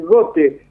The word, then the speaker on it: Gotte: saludo para todos ustedes tu apellido es gote o got Cómo debemos pronunciarlo como dijiste la primera vez gote porque tampoco Nosotros sabemos